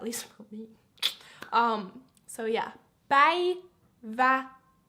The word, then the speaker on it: Päivätär: Päivätär. The faster you go, of course, the a's become less pronounced.